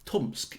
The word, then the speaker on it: Tomsk: um and it yeah the way it's spelled implies there's only one syllable right um but when you say tomsk it's like it's got stealth syllables at least four syllables in there that's an excellent word